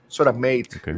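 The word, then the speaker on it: SOTAmat: it in my phone here I remember u sodat s o t a m a t sodate is the pronunciation Sate yeah that actually does spotting offline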